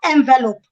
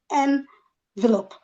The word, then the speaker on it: envelope: So please, it is not envelope and it is not envelope. It is envelope.